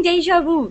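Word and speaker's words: déjà vu: Oh, I'm having deja vu. That's how you say it.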